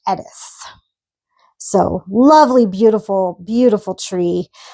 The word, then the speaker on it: Eadha: And this is actually the white popppler and it's spelled e d a d h but it's pronounced edith.